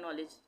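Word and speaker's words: knowledge: जैसे कहीं पे किसी शब्द में नॉलेज है, नॉलेज में के से स्टार्ट होता है नॉलेज, ठीक है, के से स्टार्ट होता है, तो वहाँ पे हम नॉलेज पढ़ रहे हैं, उसको के का उच्चारण नहीं हो रहा है, यानी कि के साइलेंट हो गया, ठीक है।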